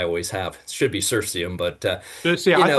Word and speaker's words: Cirsium: It should be Cirsium, but I called it Cursium, and it's kind of like stuck.